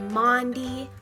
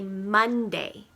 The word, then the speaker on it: Maundy: today is Maundy Thursday no I didn't say Monday Thursday though it does sound like that Maundy Thursday is what we call the Thursday of Holy Week Maundy is spelled ma you n D Y and it comes from